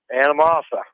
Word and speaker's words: Anamosa: Anamosa.